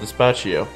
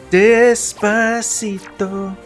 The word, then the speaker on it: Despacito: I keep seeing it and I keep pronouncing it Despacio. There's a T in there, dude. Is there? Despacito.